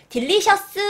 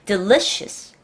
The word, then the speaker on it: delicious: 굉장히 맛있는 음식 맛있어요 딜리스 하지 마요 한국 사람들의 발음이 뒤에를 으 해 주는게 한국 사람 발음이에요 근데 이거를 미국 사람들은 뒤에를 더 강조하는게 아니라 문장 앞 단어의 앞이나 중간을 강조를 해요 delicious 해서 올라가는 거야요 다시 한번 delicious 스는